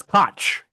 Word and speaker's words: Koch: It's pronounced Cook. It's Cook.